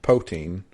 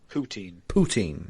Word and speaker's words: poutine: canadian true crime dark protein how do you pronounce that poutine i always call it protein poutine is a good podcast